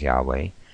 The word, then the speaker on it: Yahweh: it shows the tetragrammaton so we pronounce it as Yahweh in that particular spelling in our english transliteration of translation when Moses heard the name